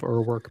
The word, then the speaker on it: Urwerk: is the German pronunciation of Urwerk, by the way.